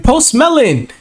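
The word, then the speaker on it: Post Malone: wait isn't that um post Malon I said did I say his name right post melon yeah there we go um hold on ain't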